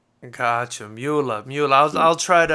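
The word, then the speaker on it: Möller: It's called umlauts and because it's German, you know, there it's normal. Here we don't do that. But yeah, it's it's pronounced Muller. Got you. Muller.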